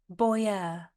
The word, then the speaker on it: boyar: our tutor word of the Week Philadelphia it is spelled b o y a r Boer and a Boer is a member of the